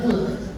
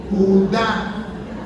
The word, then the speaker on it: Judá: dije tío por favor ahí nos dice Judas ahí Tienes acento en la a y dice Judá la ignorancia es y